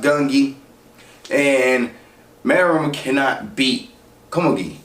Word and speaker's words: Gungi: Kamagi, she is this world-renowned champion in a game called Gongi. Let me look that up, matter of fact. Let me get this on point. Found it. The game is pronounced Gungi, and Morel cannot beat Kamagi.